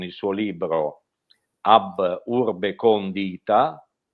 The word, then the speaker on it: condita: suo libro AB urbe condita o Condita. Di solito la pronuncia dovrebbe essere condita, però mi suonava un po' strano come latino.